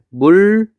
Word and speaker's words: 물난리: 얘 발음하면 물랄리라고 발음해요. 그럼 여기는 니은이 여기 니은이 리을로 바뀌었죠.